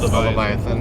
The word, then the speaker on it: Leviathan: So the symbol itself was, I'm going to pronounce that wrong, the Leviathan cross? Leviathan.